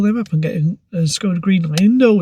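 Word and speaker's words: Škoda: Pronounce it properly. Skoda.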